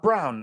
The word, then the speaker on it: Braun: then some dude named Braun comes out of nowhere for Denver Christian broad game his name it's pronounced Brown now Kristen Brown gives